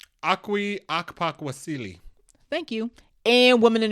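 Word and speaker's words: Okwui Okpokwasili: Akwi Akpakwasili.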